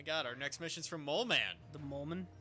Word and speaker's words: Moleman: Oh my god, our next mission's from Mole Man. The Mole Man? It's pronounced Moleman.